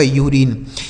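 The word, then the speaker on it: urine: अगर कोई वोवेल रहेगा तो यू का उच्चारण यू हो जाएगा जैसे यूनियन यूनिक यूरिनल और यूरिन ठीक है लेकिन अगर कोई वोवेल नहीं रहेगा तो अ पढ़ा जाएगा।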